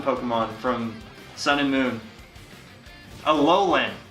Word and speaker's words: Alolan: Alolan, not Aeolin. Wow, Tim, I can't believe you pronounced that wrong.